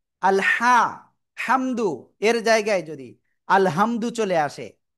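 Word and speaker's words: الحمد: আমি লিখতেছি এটা বুঝাতে হবে আমাদের সবাইকে আল আলহামদু এটা আমরা পড়বো তাই না? কিন্তু এই যেটা বললাম আপনাদের যে এখানে এই হাটা আমাদের উচ্চারণ করতে হবে কেমন?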